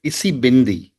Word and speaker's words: Isibindi: Deepak, your book Wings to Fly discusses the Zulu concept of Isibindi. I hope I Right. have the pronunciation Yeah, right.